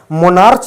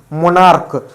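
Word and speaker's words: monarch: मोनार्च नहीं, मोनार्क।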